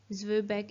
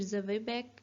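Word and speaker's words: Zwieback: ज़ुबैक इसकी प्रोनाउंसिएशन है, या फिर ज़वेबैक या फिर ज़वेबैक, इसकी दो प्रोनाउंसिएशंस होती हैं.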